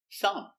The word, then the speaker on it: thumb: Example, thumb. Silent B thumb. This is my thumb. My thumb hurts. If something is good, you can say thumbs up. Thumbs up. Pronunciation thumb Make a little air.